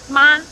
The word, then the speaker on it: 妈: exact same word, but depending on if the tone is up or flat or goes down at the end, then now the word is completely different. Right. So, how do you say mother? 妈. How do you ask a question? 妈. And how do you say horse? 马. Yeah, it's all ma, but depending on how the tone goes, it's very different things.